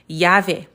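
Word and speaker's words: llave: So notice because there are some people when they look at these words they might think this word is lamo or louvia levar lor l but that's not how it's pronounced.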